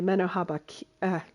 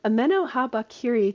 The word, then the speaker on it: Ameno Habakiri: really great at dropping the amoh habak H sorry messing up the pronunciation ameno habakiri Katana um which is